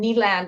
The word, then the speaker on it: Kneeland: So that's like just so you have like daytime, and then Kneeland, like the land of knees.